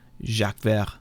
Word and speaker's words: Jacques Vert: That's nice pronunciation, there, Z. Jacques Vert, yeah.